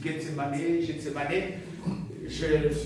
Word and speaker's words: Gethsémané: Le jardin de Getsemané la prononciation disent Gsemané.